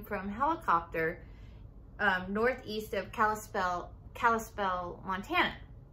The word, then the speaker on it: Kalispell: of kalispell kalispell montana i always want to say cali spell and i know that's not how it's pronounced my aunt lives there like i've been there and i still want to say it the wrong way so i think we've